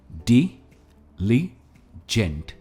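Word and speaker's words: diligent: इसकी प्रोनाउंसिएशन है डिलीजेंट। ये 3 सिलेबल वर्ड है और हम डी पर स्ट्रेस देते हैं, डिलीजेंट।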